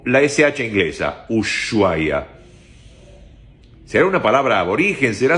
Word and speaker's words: Ushuaia: En español, la H sería muda. Sería Ushuaia. O la SH inglesa, Ushuaia.